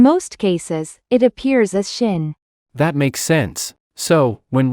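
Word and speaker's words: שׁ: that often gets overlooked this letter is shin which can also be pronounced as Sin is one pronunciation more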